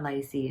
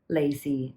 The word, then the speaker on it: lai see: doing this video on lycee and she's like no don't say it like that it's wrong that's lazy pronunciation you should be saying it as lazy lacy lacey phone and i'm like i've